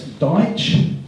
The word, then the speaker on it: Daich: Before we go any further, I need to explain the name. It's Daich, D-A-I-C-H. It's so bad on our radio ads we have to spell it out because no one understands it. And they ring us up and they go, is that Daich coatings and Daich and everything else? But it's Daich.